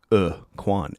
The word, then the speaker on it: Aracuan: okay we're okay we're bouncing back the Aran pronounced a quan erquan the uh what do they call that